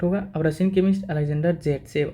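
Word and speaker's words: Zaitsev: अब Russian chemist Alexander जेटसेव also pronounced as सेटजेफ, ठीक है, रूल बताया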